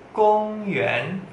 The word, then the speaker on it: 公园: Taman bahasa Mandarinnya gong yuan, gong yuan. Gong nada satu, yuan nada dua.